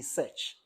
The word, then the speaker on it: SearX: So normally, it's supposed to be search, like it's a search meta engine, but then the way it is, it's kind of some way.